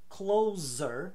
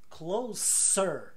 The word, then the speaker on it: closer: o comparativo mais perto como que eu falo c l o s e r sabe que aquele filme então cuidado porque mais perto não se fala closer mas closer com s você mantém o s da palavra original que é Close então se eu falo